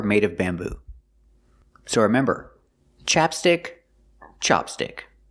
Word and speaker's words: ChapStick: the pronunciation is different chapstick use a short a sound like black cat ChapStick and Chopstick use the short a like hot and stop Chopstick but also Chopsticks come